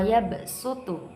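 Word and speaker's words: يَبْسُطُ: Di situ wa yabsutu, tulisan shad sin bacanya.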